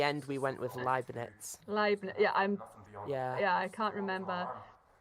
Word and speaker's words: Leibniz: Leibniz. Yeah. Yeah, I can't remember. It's because in German, EI is pronounced I, so we initially got it wrong and then we got it right.